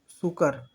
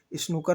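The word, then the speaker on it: snooker: चलिए नेक्स्ट देखिए, सुकर, सुकर क्या होता है, सुकर में एक प्लेयर, सुकर में, सॉरी सुकर नहीं है, हम भी गलत प्रोनाउंसिएशन कर रहे हैं, स्नूकर में एक प्लेयर, स्नूकर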